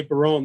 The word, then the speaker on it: Barron: My name is Barron, like Red Baron Pizza. And a lot of people say Barone. That's how they pronounce it east of the Mississippi River, where my dad's family is from. Over here, we're Barons. Over there, we're Barones.